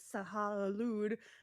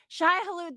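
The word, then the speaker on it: Shai-Hulud: and ride them because they became one with Sahalud. I said the name wrong, but I just Shai woke up, so it doesn't Hulud. matter. Shai Halud, thank you.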